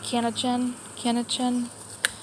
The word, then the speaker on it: Kaninchen: It's actually the German word for rabbit, but I'm not going to be able to pronounce it properly. Like Kaninchen, K-A-N-I-N-C-H-E-N, Kaninchen.